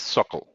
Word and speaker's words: SOQL: salesforce object query language it is pronounced as circle circle makes it simple